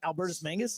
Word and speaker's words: Albertus Magnus: So was it Albertus Mangus?